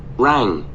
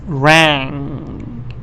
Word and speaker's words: rang: a little tricky because this NG here it is the sound of this so it's not easy maybe for you to pronounce it yet but it's rang it's not ran but this one is